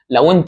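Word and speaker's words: loi: في الانجليزي الاو والاي دول بيتنطق على طول وا وا يبقى انا لو قلتلك مثلا انطق الكلمات دي مثلا دي تمام اسمها لوا طب دي مثلا تمام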